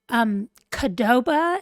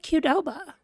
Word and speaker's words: Qdoba: y'all pronounce that, because Qdoba is how some of the people that I work with say it, as if it were a K and not a Q. And then I've always said Qdoba, but now I'm like, is it Qdoba?